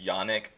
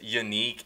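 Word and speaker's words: Yannick: people's names wrong and everyone pronounces Yanik and's name as yannik but he said on jagar today that is unique and if he's going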